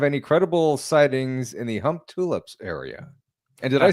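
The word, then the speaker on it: Humptulips: Um does the OP have any credible sightings in the Hump Tulips area?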